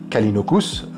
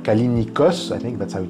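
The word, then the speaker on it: Callinicos: À cause de ça, justement, il mentionne Brian Berry, Alex Kalinokus, alors Kalinicos, pronounced, c'est comme ça que c'est prononcé, je crois, je commence à parler en anglais, ça y est, je pars en couille.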